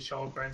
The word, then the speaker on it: Kallgren: Kallgren, yeah, they are pronouncing it Kallgren. You are correct, Dave. We are just going to start pronouncing it Kallgren since they keep calling him that.